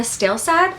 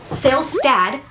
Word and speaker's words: Salestad: Making Waves by Lorna Stalestad. Nope, Salestad. I keep saying it wrong.